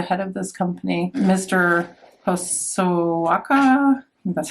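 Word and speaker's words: Hosokawa: Hosoaka.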